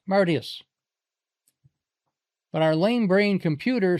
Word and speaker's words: Martius: First, the accepted pronunciation is Campus Martius. But it's Latin. So it should be pronounced Martius.